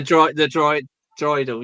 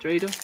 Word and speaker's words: dreidel: Oh yeah, the droidal. Yeah, it's like, come on. Is this not a droid? I mean, is that not how you say it? Dreidel.